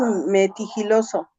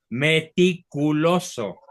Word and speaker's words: meticuloso: Yo pregunto, doctor, Sí, ¿qué es metigiloso? lo escribiste, lo pronunciaste mal. Esa palabra no existe. Entonces, ¿cómo A es? ver, revísala. ¿Cómo es que, perdón? Vuelve a repetir. Metigiloso. Meticuloso.